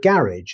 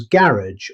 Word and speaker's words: garage: In British English, the word garage is pronounced as garage or garage. The stress is on the first syllable, so let's say it together.